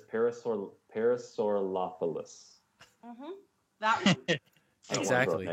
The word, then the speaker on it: Parasaurolophus: It's Parasaurolophus.